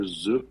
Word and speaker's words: Zhuk: But so one guy's name is Victor Zuk. His last name is spelled Zhuk, or at least the English version of his name.